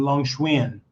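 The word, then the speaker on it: Long Xuyên: And you say the X, Xuan. Long Xuan. Okay. Yeah, most of you guys are like, what is that? How do you say the X word? Xuan. Okay, like not a swim bike, but Xuan. Okay, Long Xuan.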